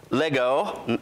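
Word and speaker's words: λέγω: we get the word it's really Lego like the old leggo my eggo commercial you know it's that's how you pronounce it Lego which means to to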